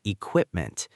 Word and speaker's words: equipment: And another one is equipment. Listeners, repeat after me. Equipment. The middle part is the strongest.